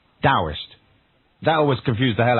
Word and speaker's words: Taoist: So it's written Taoist and pronounced with a D, Taoist.